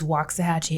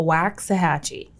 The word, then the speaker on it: Waxahachie: uh waxahachie so and for y'all we're saying it right it is waxahachie it is not a waxy hatchy okay yeah that's the